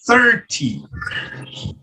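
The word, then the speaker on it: thirty: Então, esse daqui seria o 30.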